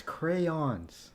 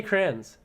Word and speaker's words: crayon: it's a northern thing no it's crayons Christ I say Kranz oh my god where